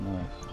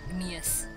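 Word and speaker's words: gneiss: I guess I better go I have a Phyllite and a Gneus. Which I think is pronounced nice, but whatever. That's how I say it.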